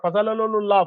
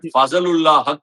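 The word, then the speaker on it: Fazalhaq: Mujeeb ur Rahman, and your favourite, Fazalalullaaah Farooqi Followed by Noor Ahmad It is Fazalulahaq Farooqi... say it right For someone like Omarzai,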